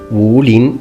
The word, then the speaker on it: Wulin: the name well not really the name is pronounced ruling it sort of means fighters of the forest